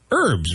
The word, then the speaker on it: herb: it's herb yeah but there's no h sound in the spice the seasoning right exactly what I